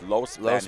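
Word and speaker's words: Los Baños: Los Banos. I always say Los. It's Los Banos.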